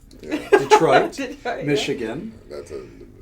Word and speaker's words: Detroit: police officer originally from the great city of detwat detroit michigan that's a mispronunciation that's the way many of my detroit